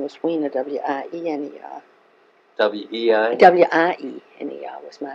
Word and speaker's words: Weiner: W-I-E-N-E-R was my name. We pronounce it Wiener and you pronounce this Wiener.